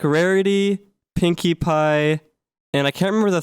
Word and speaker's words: Pinkie Pie: And then basically, long story short, they ended up like mispronouncing Pinkie Pie, and they said Pinkle Pie, and I thought that was really funny.